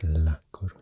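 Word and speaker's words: La Coruña: a lot and uh the Galan name for this province is aunia and the castian name is launa and I think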